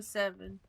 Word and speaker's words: 07: No, you pronounce it 07. Yeah. Instead of saying zero, you go O for the first one.